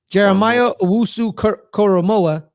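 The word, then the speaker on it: Jeremiah Owusu-Koramoah: Jeremiah Owusu Koromoa.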